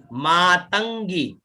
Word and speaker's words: मातंगी: आगे वन दुर्गा च मातंगी, मात अंग में ग और बड़ी ई की मात्रा, तो मातंगी, अंग और फिर गी का उच्चारण, ठीक है ना, तो मातंगी, फिर मतंग, मत अंग में